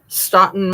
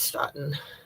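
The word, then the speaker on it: Stoughton: It's like not Stoer Stoen Stoen Police Department. Let's see. Stotten, Massachusetts Police Department. Yeah, I think I said it right. I think it's Sten. Yep. S T O U G H T O N.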